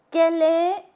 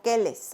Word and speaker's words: quel: Igual de pronunciación, no digo quelles o quels, no, quel.